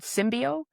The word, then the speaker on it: SymbAIo: I have started a full technology startup called SymbAIo. SymbAIo is spelled SYMBAIO, because artificial intelligence is not combative.